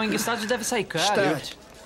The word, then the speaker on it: Gstaad: Stad. O G é mudo. Stad.